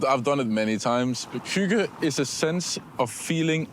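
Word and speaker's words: hygge: explain or translate the word hug it's right pronunciation you try yeah H I've I've done it many times Huga is a sense of feeling at ease at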